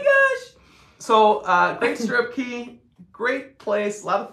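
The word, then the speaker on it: Cay: we say Coco K cuz it Rhymes it looks like K but it is a key but and that's their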